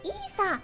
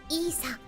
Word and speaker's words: ESA: だけど、読み方はイーサです。イーサとなってます。